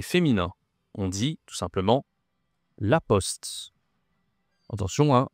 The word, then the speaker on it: la poste: On dit tout simplement la poste. Attention he la prononciation ici ce n'est pas post. En anglais, on dit plutôt post. OK. En français c'est le son. La poste.